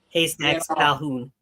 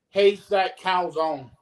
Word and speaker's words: Haystacks Calhoun: know, Bruno Sammartino and High Stack Calzone. I can never say his name. Haystacks Calhoun. Yeah, I used to say Haystack Calzone.